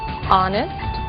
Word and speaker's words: honest: O som do H. Pronunciado desde a garganta, como em hotel, e mudo em 3 casos: hour, honest, honor.